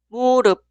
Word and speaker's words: 무릎: La primera sílaba suena 무, 무, 무. Y la siguiente, 릅, 릅, 릅. La palabra entera, 무릎, 무릎, 무릎, 무릎, rodilla.